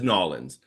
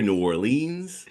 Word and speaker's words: New Orleans: Nobody says Nolans. Nobody. No. But you're gonna hear New Orleans.